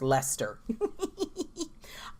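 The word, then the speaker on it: Leicester: 73 and something about leister's pronounced Lester I love this postcard Harry Trotter so oh this is burry st.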